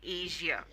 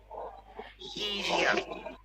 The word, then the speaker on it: Asia: that sound explosion usual Asia but it's actually Asia Asia okay measure that's how we pronounce it AIO we will start